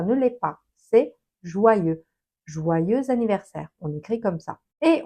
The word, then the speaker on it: joyeux anniversaire: Et on entend ce joyeuse anniversaire parce que anniversaire commence par un a. Donc on fait la liaison et on va entendre joyeux anniversaire comme si c'était au féminin joyeuse